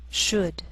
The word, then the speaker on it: should: take the time to make sure that you're pronouncing them correctly listen and repeat after me talk walk could should wood the yellow part of an egg is